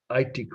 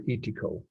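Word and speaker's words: Eitoku: on the um final aitiko or ityco or that pronounced both ways e capital e i t o k u 1573 okay so who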